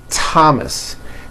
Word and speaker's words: Thomas: spelled with a th they are pronounced as if they were spelled with a normal t like that and these words are thomas thompson teresa thailand thames